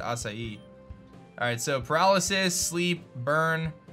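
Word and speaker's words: açaí: I've ever heard of the acai berry which is always a funny word people don't know how to pronounce but I believe you do pronounce it acai alright so paralysis sleep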